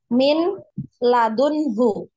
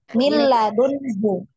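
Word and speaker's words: مِن لَّدُنْهُ: Misalnya contohnya min ladunhu. Nah, min ladunhu. Cara bacanya bagaimana? Dimasukkan langsung ke huruf lam ya, tanpa didengung. Nah, min ladunhu.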